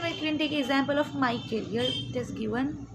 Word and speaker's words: Michael: C will be pronounced as a K.